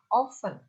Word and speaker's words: often: always lalu Open ini often ya tulisan Tapi bacanya oven biasanya oven itu sering